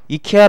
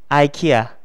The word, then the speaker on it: IKEA: 이케아는 어떻게 발음 하나 요 ? 제 생각 엔 지난번 에 이거 했던 것 같아 요 . ' 아이 - 키아 ' 라고 발음 하면 알아듣지 못 할 거 예요 . 자 , 저 를 따라 하세요 . 아키아 . 아키아 . 격차가 엄청나 죠 , 그렇죠 ? 아키아 . 그렇게 발음 해야 해 요 .